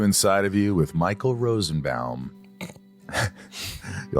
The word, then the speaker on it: Rosenbaum: It's Michael Rosenbaum. How's that? Michael Rosenbaum.